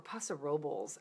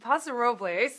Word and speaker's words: Paso Robles: includes paso robles or Possible's they say it's not possible that's just not that's not the way the Spanish would be pronounced it really bothers me um pasa Robles is how i would